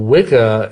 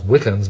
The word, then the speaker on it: Wicca: Well, Wicca, it's actually it's pronounced witcher, really. It's the old Anglo-Saxon word that means bent or twisted originally, but it's the origin of our word witch.